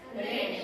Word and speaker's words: read: enter and then read you prce red but the spelling is same R E A but you have to pronounce this word as red in past played Len then sing